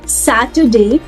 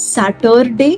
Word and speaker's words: Saturday: Friday, Saturday, Sunday. Also, everybody, we do not pronounce it as Saturday.